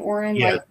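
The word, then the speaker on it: Orin: Oren is that how you say his name Oren yeah you know he clearly found his match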